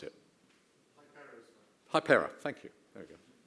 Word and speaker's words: Hypera: its name recently to, Jonathan, how do I pronounce it? Hypera, thank you.